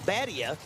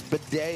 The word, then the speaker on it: Badea: Yeah, we did that 2 weeks ago because I kept saying Badia. Yeah. And she goes, it's not Badia. Right. It's Badea.